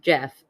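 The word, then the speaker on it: Geoff: went with their friend Jeff which it's spelled Geo FF which always throws me up it sounds like a very fancy Jeff that's that's how intelligent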